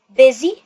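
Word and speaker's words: busy: نيجي لكلمه نحله مشغوله الاس هنا هتتنطق زد فاقول باذي بيزي بي تعالوا بقى نتكلم عن القواعد في الكلمه دي احنا قلنا الاس هننطقها زي الزد والواي هتطلع صوت ثقيل فاقول بذي بزي فطلعت صوت الايه الطويل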